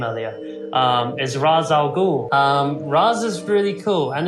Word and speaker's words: Ra's al Ghul: Well, no, the problem is that it's an Arabic name, and the pronunciation in Arabic is Ra's al Ghul.